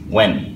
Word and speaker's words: when: কোয়েশ্চেনের আমি কি দিতে পারি এটাও কিন্তু আবার হোয়েন না ওয়েন ওকে এটা হয়ের উচ্চারণটা এমনভাবে বলা হয় যে এটা পুরোপুরি প্রকাশ